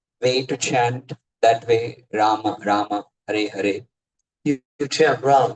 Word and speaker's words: राम: और उनका जप when I started chanting Rama instead of just Ram.